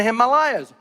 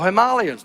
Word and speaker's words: Himalayas: and even in the Himalayas or her Malia's depending how you want to pronounce it so here's the